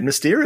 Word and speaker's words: Mystère: How do you say it? You're saying it right. Mystère is right.